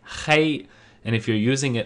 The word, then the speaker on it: 黑: the basic Chinese word 黑色, 黑色, which means black, the color. Here's a brief explanation about the two characters in 黑色. Firstly, 黑, pronounced in the first tone by itself, means black as an adjective.